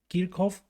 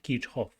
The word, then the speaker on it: Kirchhoff: apareció kidshot del cual se pronuncia en inglés kirkof o en alemán Keep hop en español Generalmente le decimos kirchhoff y se sobreentiende de